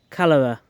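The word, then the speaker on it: Chalara: It all started with something called cholera, pronounced cholera. This airborne fungus infects and kills our native ash trees.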